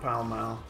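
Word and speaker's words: Pall Mall: it's a British mall it's after the correct pronunciation you mean the shopping center the shopping center and mouth the foul mouth pal mal and wife and their full moon well I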